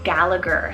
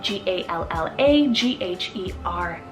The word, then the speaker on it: Gallagher: rooted name meaning godly another surname option is gallagher celt g-a-l-l-a g-h-e-r gallagher so this one means descendant of foreign